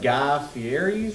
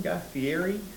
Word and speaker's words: Guy Fieri: Had breakfast there and then uh ate at Guy Fier's restaurant. Is that how you say his name? Guy Fieri.